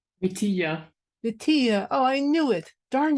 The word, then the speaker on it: Vitija: Vitija. Oh, I knew it. Darn it, I knew it. Fine. The Spanish fine.